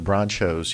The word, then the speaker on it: Bronchos: The Bronchos. Yeah. Um H is silent, right?